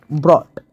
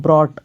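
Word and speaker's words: Brot: इसका मतलब होता है ब्रॉट। ब्रॉट का मतलब होता है ब्रेड। ब्रेड। ब्रेड होता है। ब्रॉट।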